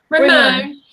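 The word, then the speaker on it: Rimon: But what would you say you took away most from, because you went to, am I saying it right, Ramon? Yeah, Ramon.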